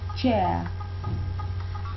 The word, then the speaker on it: chair: And here, if you adopt the British pronunciation, you won't pronounce the R at the end. You just say chair.